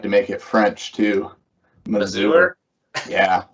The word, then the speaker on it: Mazur: Yeah, not really sure why, but you know, if everyone's ever seen like a Mazda car, I mean, that's how you pronounce the first three letters is with a short A like that.